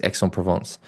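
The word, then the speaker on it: Aix-en-Provence: you say sorry ex provance so you do pronounce X Exon provance IM man Frankfurt Magnus dler Thor Bendix Madson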